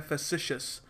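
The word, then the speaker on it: facetious: इसको प्रोनाउंस करने का तरीका होता है फेसिशियस।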